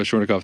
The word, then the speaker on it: Schornikow: that way that is awesome uh well schweinkoff thank you so much for uh for being